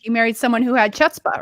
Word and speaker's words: chutzpah: You married someone who had chutzpah, right? Right. They had what again? It's called it's chutzpah. Chutzpah.